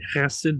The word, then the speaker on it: chesed: B'chesed, chesed, there's a segolet, so it's usually pronounced, the stress is on the first syllable.